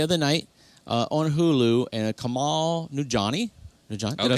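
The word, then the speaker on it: Kumail Nanjiani: But I watched one the other night on Hulu, and Kamal Nujani.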